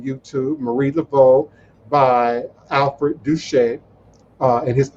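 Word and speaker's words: Doucette: will also be featuring big chief alfred duchette he's a long lifelong new orleanian and a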